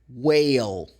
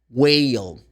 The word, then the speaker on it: whale: The sound of WH is the same as the sound of the letter W.